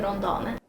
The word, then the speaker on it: Rondane: multitude of Norwegian mountains, but it's inspired by Rondane. Is that how you say it? Yeah, Rondane.